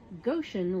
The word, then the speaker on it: Goshen: In Indiana, Goshen rhymes with ocean.